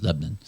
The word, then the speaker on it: Lebanon: And then after them, we went to Diffenbach's up in Lebanon County. Okay. And I said that with too many syllables. It's Lebanon. Lebanon.